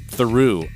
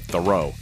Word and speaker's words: Theroux: It doesn't sound like it looks on paper. It's Louis Theroux, I believe is how you say his name. Mm-hmm. It looks like Theroux.